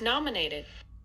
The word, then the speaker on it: nominated: like me you hear the most prominence in this syllable nom num num which is stress syllable in this four-syllable word nominated okay so to bark